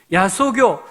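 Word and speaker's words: 야소교: 그 지역의 야소 겨울이 이때는 예수교 라고 하지 않고 야 서교 라고 발음해 씁니다 야 소교 즉 교회가 있고 신자들이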